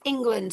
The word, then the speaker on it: England: So if they're looking at or you're looking at the word England that a as an a in this word is not a plausible pronunciation is it? because it's not e and or whatever. It's it's England.